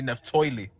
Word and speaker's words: Naphtali: used to call me Neftoili. Neftoili. Yeah, that's how they say it, Naphtali.